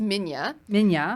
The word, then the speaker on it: Minilla: Yeah, that's baby- pronounced Minya.